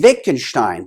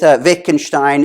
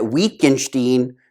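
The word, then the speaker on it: Wittgenstein: discussions with with with Vic and Stein and he pronounced Vic and Stein as weaken Steen weakened Steen and kept calling him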